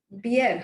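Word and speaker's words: Bjerre: think I think it's pronounced as Pierre. Beer, huh? It is Yeah, beer. The J yeah, is silent.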